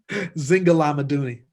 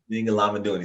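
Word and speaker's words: Zingalamaduni: Pronounce it for me because I feel like I'm a butcher it. Zinga Lamaduni. Zinga Lamaduni.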